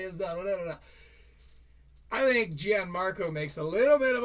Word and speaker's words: Gianmarco: I know it's Gian Marco. I will say Gianne. Um, pronounce my name however you feel.